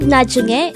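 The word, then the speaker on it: 나중에: The word najunge could be divided into 3 syllables. Najunge. Na is formed from the combination of the sounds of nian and a. Jung is formed from the combination of the sounds of chiat, u, and iyang, while e is just the sound of e itself with a placeholder iyang at the first position of the syllable.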